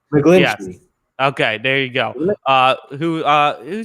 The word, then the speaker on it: McGlinchey: I think it'll probably be Mike McGillany, whatever. I'm not very good at pronouncing names. Yes. McGlinchey.